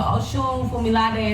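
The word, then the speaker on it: Osunfumilade: But yeah, so Oshun Fumilade is spelled OSUNFUMILADAI.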